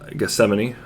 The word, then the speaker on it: Gethsemane: was said was uh the garden of uh uh gethsemane i just found out that's actually how it's supposed to be pronounced i was mentioned which